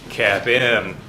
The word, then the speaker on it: CAPM: of all capital asset pricing model capn is pronounced cap M so if you want to sound cool around